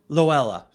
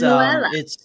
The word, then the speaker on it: Luella: Loella. It's Luella.